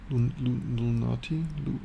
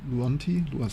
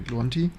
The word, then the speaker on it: Luanti: I constantly mispronounce this name here. Lunati Luanti, sorry, Luanti.